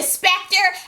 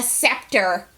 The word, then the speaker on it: scepter: it as a weapon then I took the Spectre out of your head I knew good and well Claudia was going to say Claudia is the pronunciation police she said uhuh uhuh it is called a scepter why por you were doing so good girl